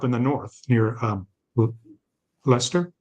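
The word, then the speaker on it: Leicester: the north near um Lester is that how I pronounce it y y r Lester and so when they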